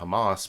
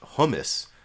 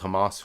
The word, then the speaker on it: Hamas: he mispronounced the organization Hamas but what a lot of people were saying is he called Hamas hummus you know the like uh the dip made out of chickpeas hummus he called Hamas hummus you can sort